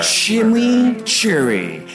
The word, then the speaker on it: Chimichurri: Chimichurri. That's how you pronounce it.